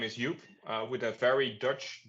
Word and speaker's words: Joep: all right so uh again my name is yup uh with a very Dutch but for you guys probably difficult to pronounce last name uh it's called